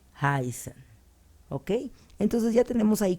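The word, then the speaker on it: heißen: a suceder lo mismo aquí tenemos una Beta que se pronuncia como una doble s entonces va a ser haisen el verbo no lo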